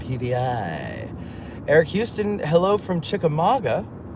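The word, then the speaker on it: Chickamauga: Eric Houston, hello from Chikamaga. And uh that's how you say it, folks. Not Chikamagua. It's not spelled that way.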